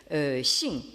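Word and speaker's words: 性: Alors, donc, toute la discussion tourne autour d'un mot qui s'écrit et se prononce en chinois moderne, vous l'avez en haut de la diapositive à gauche, donc Xing.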